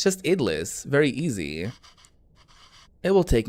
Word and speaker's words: idlis: also going to learn with me how to pronounce that word idlis idlis okay now we know idlis it's just idlis very easy it will take me too long